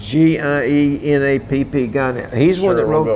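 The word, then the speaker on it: Gienapp: And the man that wrote this article, I can't pronounce his name. His name is Emmett Guineap, G-I-E-N-A-P-P, Guineap.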